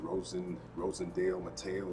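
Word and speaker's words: Rosendo Mateu: So um, I finally picked up one that was on my list, and this is, I believe it's pronounced Rosendale Mateo.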